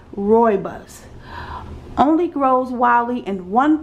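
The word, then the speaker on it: rooibos: really good information okay robust says here pronounced Roy buus only grows wildly in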